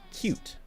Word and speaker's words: Qt: Which, notably, Qt is technically pronounced cute.